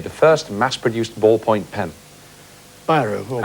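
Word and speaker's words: Bíró: first mass-produced ballpoint pen byro or absolutely right buau is the right pronunciation and you've got 22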